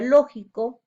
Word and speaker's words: lógico: Ejemplos, tenemos la palabra lógico, lleva la mayor fuerza de voz en la sílaba lo, y la palabra máquina lleva la mayor fuerza de voz en la sílaba ma.